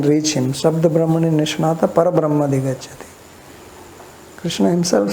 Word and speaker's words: Krishna: akshara letter is wrong so name is krishna and people call kisan questo all this different